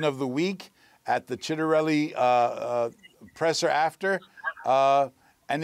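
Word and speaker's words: Ciattarelli: So think Chet.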